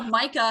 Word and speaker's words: Micah: ] way to pronounce that name I know Micah hello that's how it's pronounced move to a new house in San